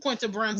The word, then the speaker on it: Brunson: Is that how you pronounce her last name? Quinta Brunson.